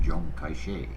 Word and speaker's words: Chiang Kai-shek: whose name in the Mandarin dialect is pronounced Zhong Kai-shek.